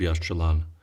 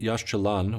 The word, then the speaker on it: Yaxchilan: of the site of Yash Chalan it should be noted that Yash Chalan which means the green stones is a modern name